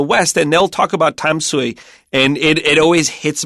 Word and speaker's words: Tamsui: Now, you pronounced it the way we pronounce it in Mandarin. If it were southern Min or the Taiwanese dialect, they'd say Tamsui. And if you're just reading the romanization, I bet most people would say Tom Sui.